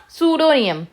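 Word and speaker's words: pseudonym: सकते हो चलो अब सूडो नियम सुडो नियम सुडो नियम मतलब होता है वैसे तो सूडो का मतलब यहां पर पी साइलेंट रहता है सुडो का मतलब होता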